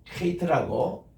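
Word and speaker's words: חית: 요 발음은 H 밑에 요거 점을 찍습니다. 혹은 여기가 독일의 최하 발음이에요. 이게 hate에서 우리 요 발음이 조금 알파벳 전체 가운데서 가장 외국인들이 발음하기 힘든 발음 가운데 하나입니다. 왜냐하면 해도 아니고 최하 발음 K에 섞인 그런 발음인데 제일 좋은 게 뭔가니 우리가 가래 긁을 때 하는 그 발음이죠.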